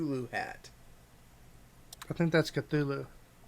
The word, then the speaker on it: Cthulhu: a chip du Loup at I think that's Cthulhu cut through Lu sorry I pronounce there uncle you spell it see th